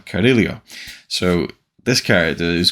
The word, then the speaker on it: Carrillo: the order commentary that he was very specific about how he wanted his name pronounced and I'm sure I'm not getting it perfectly correct but I would read it off the pages Leo Carrillo but it's uh carilio so this character is